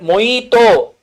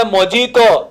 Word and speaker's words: mojito: col what is that moito they'll say mojito but no you you're illiterate you should pronounce it as moito okay moito will get Blue color.